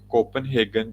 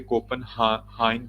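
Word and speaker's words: København: share की है ये कोपनहेगन जो यूनिवर्सिटी है वैसे इसे कोपन हाइन बोलते हैं ये जी को साइलेंट रखते हैं कोपन हाइन का मतलब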